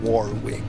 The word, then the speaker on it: Warwick: Next cir is warrick. Is that how you say it? Warrick or do you say it the American way? Warwick.